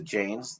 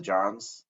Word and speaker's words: Jains: That's almost like, is that I'm probably going to pronounce wrong, the Jains, the Johns, that's kind of their thing, like reduce your activity so you're not hurting anything. Yeah. Well, and I think in my mind, that is it's the activity of any religion that has any renunciant kind of flavor. The Jains, as I understand that it's pronounced, the Jains take that